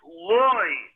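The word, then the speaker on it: לו: Loi means no. That's when you say loi with an aleph. The same word is pronounced loi with a vav, and that means to him.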